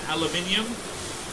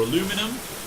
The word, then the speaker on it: aluminium: This gives us cobalt and aluminium. Or aluminum, depending on how you want to pronounce it.